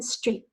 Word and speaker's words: straight: And then we have those 2 silent letters that show up all over the place, GH, and then straight.